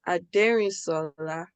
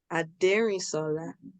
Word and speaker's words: Adérínsolà: So my name is pronounced Adérínsolà. In my culture, you could say it like a song, like a melody. Adérínsolà. Adérínsolà.